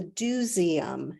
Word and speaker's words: DoSeum: and then also the Dooseum, and that's spelled Doseum, as in let's go do something, and that's a hands-on kids museum.